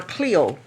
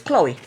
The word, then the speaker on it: Chloe: I either want to say Chloe or Cleo. Cleo? It's Chloe. Chloe.